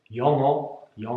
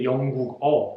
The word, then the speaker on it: 영어: es Yongguk el país, pero su idioma no se dice Yongguk-o, sino se dice simplemente Yongo.